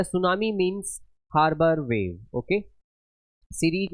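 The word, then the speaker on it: tsunami: नजर आ रहा होगा, टी से स्टार्ट है, बट जो आपका ये टी होता है ये साइलेंट होता है। अब बोला जाएगा ना सुनामी, बट टी इज the silent.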